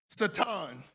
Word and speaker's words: Satan: places, the enemy, Satan, Satan, that's how you pronounce it, really. I just don't. It is. It's Hebrew. It's Satan.